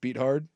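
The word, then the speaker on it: Beathard: CJ Bethard or whatever the Yeah. No, I think it's beat hard. I I believe it's pronounced beat hard.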